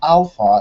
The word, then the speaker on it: ALFA: Well, yeah, it's pronounced alpha, but it's written ALFA.